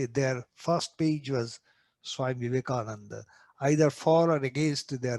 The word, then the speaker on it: Vivekananda: its editorial said, Vale Vivekananda. They said Vale Kananda, because Vivekananda is a 5-syllable word. It is difficult for the foreigner. So they used to say Vive Kananda.